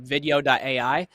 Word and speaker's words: vidyo.ai: Another part of that is there's a tool I like called, I'm going to spell it too, because it doesn't spell like it sounds. It's called video.ai. So vidyo.ai. It's like video.